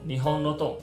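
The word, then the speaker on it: 日本のドン: 本的首领，亦可念作 Nihon no Don。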